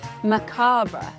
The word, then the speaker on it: macabre: It's macabra. Let's spell it together.